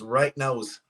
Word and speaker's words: Right Nows: And yes, it's pronounced. That's how it is now. Not right now, but right now. Right now, it's Right Nows.